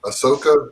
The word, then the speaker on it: Ahsoka: got cool potential uh the rosario dawson it's ahsoka that's how you pronounce it that she did such a great